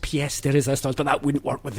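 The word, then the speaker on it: pièce de résistance: per dance out there yes i know it's pronounced ps the resistance but that wouldn't work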